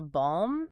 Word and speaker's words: balm: They shoved a C into indict and an L into balm, and they had absolutely no intention of changing the pronunciation. We still say them the French way, but they permanently altered